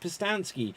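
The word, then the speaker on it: Pustansky: me on facebook instagram and twitter at postansky which is spelt p-u-s-t-a-n-s-k-y can also get a copy of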